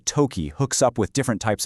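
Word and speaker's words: とき: And that word is toki, pronounced toki.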